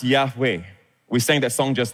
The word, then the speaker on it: Yahweh: So this is pronounced Yahweh.